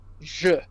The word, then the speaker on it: je: So we want to try to get used to pronouncing the E as otherwise it can create confusion. So that first word there is je.